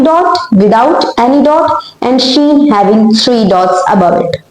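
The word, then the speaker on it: ش: Seen without any dot without any dot and sheen having three dots above it. Okay. Now the sound of sheen is shen in English alphabet sh.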